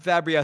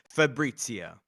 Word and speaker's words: Fabrizio: No, not Fabio. So he did explain and actually Jenny did this as well. The pronunciation is Fabrizio. Fabrizio.